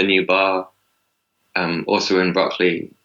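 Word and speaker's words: Brockley: shop really close to broccoli station that's not spelled like the vegetable broccoli like the name Brook within Le why yeah yeah yeah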